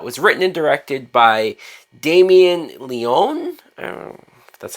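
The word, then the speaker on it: Damien Leone: 2022 film that was written and directed by Damien Leon that's how you say his name now what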